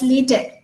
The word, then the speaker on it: LaTeX: Though we write it as LaTeX, but it is pronounced as LaTeX, and it is a document preparing system.